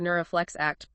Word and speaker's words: NeuroFlex ACT: That's exactly where Neuroflex Act, pronounced like the word ACT, which stands for neuroflexibility focused acceptance and commitment therapy, comes into play.